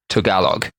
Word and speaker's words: Tagalog: so sorry to all of our Filipino friends phonetically apparently it's Tagalog okay I've got that right the word balut